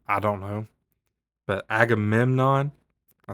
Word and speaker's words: Agamemnon: But Agamemnon I said it right that time.